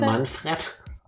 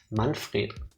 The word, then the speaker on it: Manfred: Manfred? Manfred. You will learn how to pronounce German names in this video.